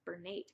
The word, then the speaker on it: Bernat: softy baby white Bernette I think I said bernate before I always call it bernate and I I'm 100% that's wrong it's Bernat I don't know maybe